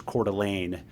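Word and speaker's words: Coeur d'Alene: So there's this case from the 90s um it's Idaho versus Celane and the good pronunciation by the way.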